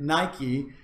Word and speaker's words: Nike: Athens, he reputedly said just one single word, Nike, which is the word for victory, which is also the word that many of you have on your shoes and other clothing apparel at home. We pronounce it Nike.